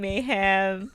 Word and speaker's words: Maham: So, say it's Mayhem. It's always been Mayhem. Mayhem. So many different pronunciations.